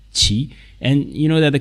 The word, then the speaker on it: 其: the character so that you know how to pronounce it Chi Chi and you know that the character means flag